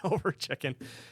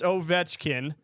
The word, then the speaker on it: Ovechkin: I was like, "Yeah," and she's like, "I thought it was Over Chicken." I was like, oh, okay, no, it's not Over Chicken, it's Ovechkin.